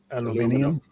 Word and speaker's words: aluminium: Aluminium.